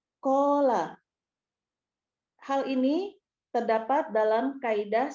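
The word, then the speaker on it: قال: Berikutnya, penggalan ke-8, qala, bentuknya KKL, pelaku huwa, akar kata qawala, dibacanya qola.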